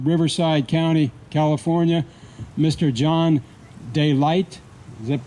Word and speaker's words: DeLight: John DeLight. Is that pronounced? Yeah. It's D-E and then capital L-I-G-H-T. John DeLight.